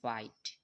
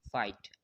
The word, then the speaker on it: fight: তারপর আইতে লক্ষ্য করো, FIGHT হচ্ছে হবে ফাইট। এখানে জিএচ এর উচ্চারণটা হবে না, ঠিক আছে?